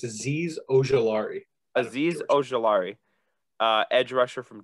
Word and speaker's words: Azeez Ojulari: So I'm going to take, I'm going to pronounce this incorrectly, Azeez Ojulari. I believe it's Azeez Ojulari.